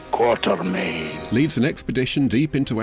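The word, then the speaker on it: Quatermain: Game Hunter Alan quartermain which I know is meant to be pronounced quartermain but I'm not going to argue with John Reese Davies quarter M leads an expedition deep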